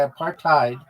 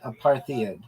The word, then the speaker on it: apartheid: partid is not pronounced aparthadid because it's not an English word originally it comes from Africans And in that language, hide is pronounced like hate or height, not head or id.